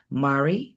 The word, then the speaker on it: Mari: Well, guys, if you want to expand yourself or come back to yourself, Mari rhymes with Ferrari.